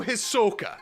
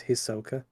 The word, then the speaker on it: Hisoka: It's such a fun game, and Gon drew Hisoka.